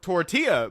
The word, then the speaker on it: tortilla: And it is pronounced tortilla, by the way.